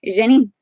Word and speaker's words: Jenin: in ancient times, but now it's called Jenin. And I'm not sure why I said that with a French accent, but that's how, when I went to how do you pronounce this, that's how the lady said it. So Jenin.